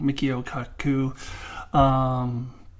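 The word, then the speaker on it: Michio Kaku: I think I just said his name wrong. Mikio Kaku.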